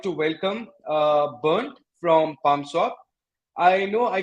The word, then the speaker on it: Bernd: My real name is Bernd, but probably nobody can really pronounce my name properly, so that's why I say, "Oh, you can call me Bernard," right? So more people, I think, Oh, no, I can pronounce it right. Bernd is the right one, right?